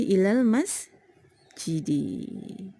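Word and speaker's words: إلى المسجدِ: Apakah da, di atau du ya? Cara membacanya sesuai dengan i'rabnya. Nah, kita lihat amil sebelumnya ada huruf jar. Maka cara membacanya adalah dengan dikasrohkan karena huruf jar ini menjerkan atau mengkasrohkan kata setelahnya ya. Jadi ini menjadi ilal masjidi.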